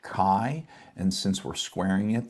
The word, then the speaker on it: chi: And kai is pronounced like a c with from a k and then a long i. So kai.